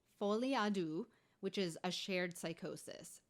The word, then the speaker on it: Folie à deux: Folie à deux. I think that's how you say it. It's French, so I'm giving it my best shot. Folie à deux, which is a shared psychosis.